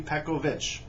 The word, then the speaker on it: Pekovic: I've heard many times that these foreign born players whose names end in IC should be pronounced like itch, so Pekovic would be Pekovic.